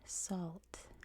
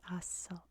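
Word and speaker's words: السلط: is in English called Salt, or the city of Salt. In Arabic, it's pronounced, I'm gonna say it once, and you're gonna figure out why once I say it, it is As-Salt.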